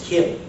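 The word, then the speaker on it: CHIM: Um, so in addition, I'm going to talk about um Kim and Chararmat. Kim is spelled C H I M is the idea that we've also got the zero sum.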